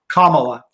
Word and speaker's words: Kamala: It's Kamala? Kamala. Kamala, you're beautiful. Like the U.S. Vice President, Kamala.